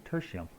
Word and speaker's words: Tertium: I've been saying Tertium. It's actually Tertium.